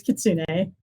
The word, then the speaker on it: kitsune: Well, okay, so the correct way is kitsune. Please do not with any kitsun or kitsune.